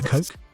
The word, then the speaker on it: Koch: do so it's a Coke the Coke family typically pronounced as the coke is an American Family